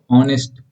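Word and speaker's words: honest: ऑनेस्ट ऑनेस्ट में आ का उच्चारण हो रहा है जो कि स्वर है हिंदी वर्णमाला का।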